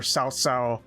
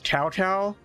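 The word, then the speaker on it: Cao Cao: We're not we're not going to constantly refer to uh the actually very important historical figure Sao as cowcow. Um like we will do our best to pronounce it correctly.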